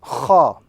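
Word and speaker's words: خاء: So this letter goes by the name Kha. The letter Kha. And if you were to look at an English equivalent, we can probably think about KH in the English language, but with a grating sound.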